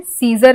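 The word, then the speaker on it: Caesar: बोल रहे हैं तो सीजर हमें ऐसे लग रहा है जैसे कि हमने लिखा है सी ई एस ए आर सीजर तो यहां पे ए का उच्चारण यहां पे छूट गया है लेकिन स्पेलिंग में हमने ए हमें लिखना है तो यहां पे ए साइलेंट है वैसे ही यहां पे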